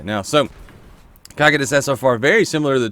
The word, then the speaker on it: Cocytus: Let's take a look at the other Omolon scout rifle, the COCYTUS? COCYTUS. I was corrected on that recently, and I believe that is the proper pronunciation. COCYTUS?